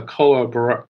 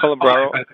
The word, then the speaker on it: Calabro: to speaker number 84 uh cola bro yes good evening uh mr mayor and uh counselors and fellow residents uh you did good on the pronunciation there uh mayor stewart um my name is calabro i'm a long time